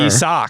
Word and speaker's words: Isak: No, you're using a Z. It's an S still. Isak. Closer. Isak.